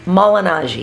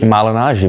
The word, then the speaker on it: Malignaggi: Paulie Malignaggi. Malignaggi, baby. Oh, that was good. Say it, Wade. Paulie Malignaggi. It's still a real way. Malignaggi. The clone is not. See, I forgot it again. Malignaggi.